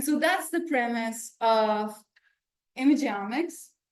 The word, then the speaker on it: imageomics: images so we got to practice so it's imic so say it with me imic again image